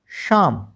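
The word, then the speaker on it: psalm: पी एस ए एल एम। ठीक है? अब जरा इसमें देखना दो बातें हैं। एल एम एल साइलेंट हमने पहले सीख लिया था। यहां पर दो लेटर क्या है? साइलेंट है। पी और एल बी। तो हम इसको क्या पढ़ेंगे? शाम क्योंकि एस से हमारे इस शब्द की शुरुआत हो गई। एल यहां पर साइलेंट हो गया। तो बचा क्या?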